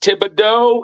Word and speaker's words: Thibodeaux: Yeah, that's pronounced Thibodeaux.